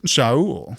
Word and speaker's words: Saul: The name Saul is not how a Jewish person would pronounce that name. Yeah. And Sha'al. definitely wouldn't have pronounced it It that would have way been Sha'al. in the biblical period. Yeah. Or Shaul, Sha'ul.